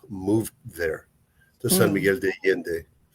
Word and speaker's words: Miguel de Allende: Also, Mexico City and Alon de Miguel.